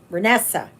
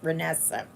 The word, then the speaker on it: Renessa: Renessa. Renessa. That's how she pronounces it. Renessa. Like Vanessa, but with an R.